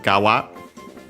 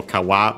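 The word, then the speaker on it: 側: and then we have gawa uh technically also kawa but yeah usually nowadays found as gawa because it's used as a suffix uh it means side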